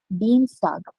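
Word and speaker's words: Dienstag: Tuesday is called deanstag. So I e will become e pronunciation always.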